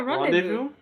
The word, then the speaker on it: rendezvous: The one big Rendezvous? That's how you pronounce that? Yeah, rendezvous. It's That's French.